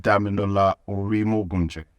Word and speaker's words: Dami Orimogunje: That's the correct When I pronounced Dami Orimogunje.